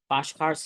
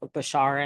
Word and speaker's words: Bashar: Bashkar's talking about it. Bashar, I mean, is talking about it.